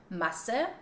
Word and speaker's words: Masse: Like for example in the word Masse, which is pronounced with a short vowel and it means mass, versus Maße, Maße, which has a long A sound and this means measured.